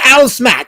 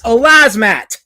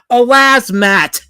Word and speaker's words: Alaz Matt: But my name is not Alice Matt. It's Alaz Matt. It's pronounced a certain way for a reason. Alas, Matt.